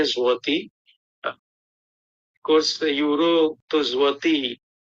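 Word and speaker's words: złoty: Tulisannya zloty tapi bacanya zloty.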